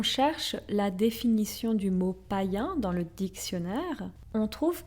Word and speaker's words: païen: Mais déjà avant ça, plusieurs peuples païens célébraient la fin du mois de décembre.